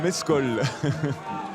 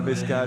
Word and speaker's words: Mescal: Paul Mescal. C'est Paul Mescal peut-être, mais peut-être qu'en américain... Il faut le prononcer comme ça, pour éviter de penser à du mezcal justement, hein, c'est cet alcool mexicain.